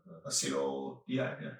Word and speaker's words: acetaldehyde: Acetaldehyde.